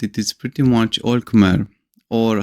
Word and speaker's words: Khmer: One interesting, although expected thing about Cambodia is that it is pretty much all Khmer, or how it is pronounced natively, Khmer, and pretty much all Buddhist.